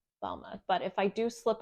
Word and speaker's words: Balmain: Paris now I did originally think it was balain Paris but evidently um I was mispronouncing it it is called balma par and the a is silent so it's pronounced balma but if I do slip up please be